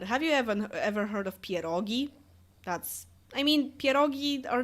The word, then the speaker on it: pierogi: It's like you can't have a Christmas Eve without those pierogi. Yeah, like, are you even Polish? You never heard of pierogi? Really? Like, Americans say pierogies.